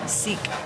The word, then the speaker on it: Sikh: people tell us that some people prefer the pronunciation to be sick versus seek or sick okay however that is your chosen way to say it this is a beautiful